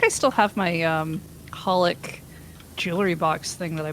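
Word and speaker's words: xxxHOLiC: holic okay I know there's three x's in front of it they're not pronounced there's Alessandra Hunter right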